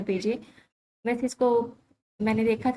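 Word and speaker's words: Piaget: वैसे इसको मैंने देखा था एक और शॉर्ट लेक्चर सीरीज के अंदर, उसको पैगेट पढ़ रहे थे, आई डोंट नो व्हाई, लेकिन मैंने इसकी सही प्रोनाउंसिएशन देखी तो इसको पेजे पढ़ना है हमने।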